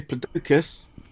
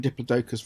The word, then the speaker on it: Diplodocus: photograph of one and all the geologists pronounced it Diplodocus yeah fair enough I always always say diplodus oh proof I was